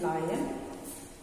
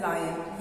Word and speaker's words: lion: This is pronounced as लायन। ये मैं online class में भी कई बार बता चुकी हूँ, अदरवाइज ऑल्सो लायन है, इट्स नॉट लॉयन। Many children pronounce this as loin. Children, loin is not the name of animal.